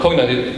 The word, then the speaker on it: Cognite: Is that how you pronounce it, first of all? Yeah, it's Cognite.